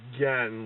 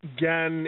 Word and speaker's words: Gen: And I guess it's pronounced Gen, like Ken.